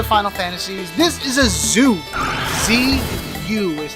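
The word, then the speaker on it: Zu: This is a zoo. Z-U is how it's spelled.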